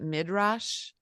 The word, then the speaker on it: midrash: I love how you brought the Jewish is it midrash?